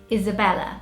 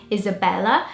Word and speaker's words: Isabella: The British way, you like linger a little bit more on the L. So it's more sort of, your tongue comes out more to pronounce Isabella. As in Portuguese, it's more of a Isabella kind of sound. Like it's, I don't know, there's not that much focus on the L. You don't roll your tongue as much to say it the Brazilian way. So that was one of